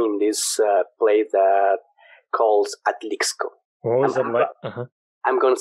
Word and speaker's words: Atlixco: yeah i born in this place that calls atlixco i'm going to spell it oh my god yeah because i know